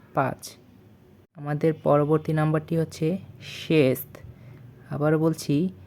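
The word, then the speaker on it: шесть: অতঃপর হচ্ছে চেতিরি চেতিরি চেতিরি বা চার অতপর নাম্বারটি হচ্ছে পেয়াত পেয়াত পেয়াত বা পাঁচ আমাদের পরবর্তী নাম্বারটি হচ্ছে শেষ আবারো বলছি শেষ শেষ বা ছয় পরবর্তী নাম্বারটি হচ্ছে স্যাম স্যাম বা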